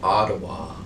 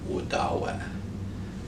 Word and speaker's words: Odawa: is wadawak with daawak so odawa and ottawa are both mispronunciations of udawa odawa means he or